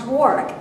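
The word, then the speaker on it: Warwick: It's it's Warick. It's it's spelled W A R W I C K but pronounced Warick.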